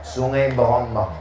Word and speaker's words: Sei Berombang: Tulisannya Sei Berombang. Cara membacanya Sungai Berombang.